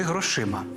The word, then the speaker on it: грошима: не розкидайтеся грішми чи грошима А ось у формі орудного відмінка обидва варіанти правильні не розкидайтеся грішми і